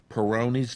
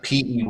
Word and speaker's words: Peyronie's: say suffered from it he did mentally uh peyronie's disease perfect is that how it's pronounced yes it's uh p-e-y-r-o-n-i-e-s i guess apostrophe s peyronie's disease is it